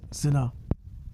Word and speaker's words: Sina: But as it stands, no, rest in peace, SA, that's how it's properly pronounced.